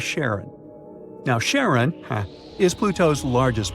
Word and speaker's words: Charon: Nix, Kerberos, Hydra, and the most mysterious one, Chiron, also pronounced Charon. So you can pronounce it however you like. I'm going to go with Charon.